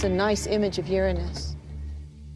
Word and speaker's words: Uranus: pronounce the planet's name Uranus which is very likely closer to the original pronunciation of the name of the God afternoon was named if